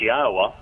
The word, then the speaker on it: Yahweh: Hays repeated twice and the only thing you add is they they owed which is the Y which is pronounced the same way it is in English so it's yahwah very easy to pronounce